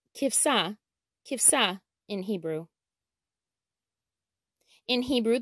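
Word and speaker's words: כבשה: Sheep is pronounced kivsa, kivsa in Hebrew.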